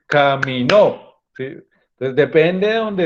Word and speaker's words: caminó: Y miren, porque una cosa es decir camino y otra cosa es decir caminó.